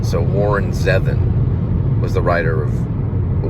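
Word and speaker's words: Zevon: to Werewolves of London I think it's pronounced seven so Warren zevin was the writer of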